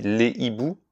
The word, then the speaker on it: hiboux: Ici, on t'a fait pratiquer la différence entre le H aspiré, comme dans hibou et haricot, sans liaison, on dit les hiboux, les haricots, et le H muet, comme dans homme, on dit les hommes.